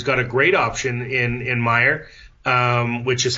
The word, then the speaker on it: Maier: You know, you've got both of those options, and I think Calgary's got a great option in Maier, which is how you actually pronounce his name, so I apologize for the Maier drop.